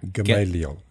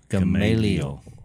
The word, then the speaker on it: Gamaliel: Gamaliel. Gamaliel.